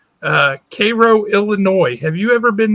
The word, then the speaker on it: Cairo: it spelled cairo but it's spelled they it's pronounced cairo uh cairo illinois have you ever been there no been